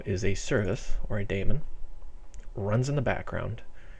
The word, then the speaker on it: daemon: Some people call them demons, but I think the correct pronunciation is daemon.